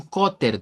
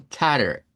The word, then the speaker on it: cutter: decir, mira, necesito un cotter, dice la gente. No se debería pronunciar así. Si lo quisiéramos pronunciar en inglés americano, sonaría como un cutter.